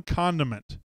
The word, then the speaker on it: condiment: If you could only have one condiment for the rest of your life. One condiment. And make sure you get that last syllable in there.